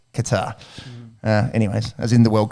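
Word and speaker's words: Kattar: Arnold Allen, he's another POM, called out Calvin Qatar. I think that's how you pronounce it. I've heard Cater before, but I think it's Qatar.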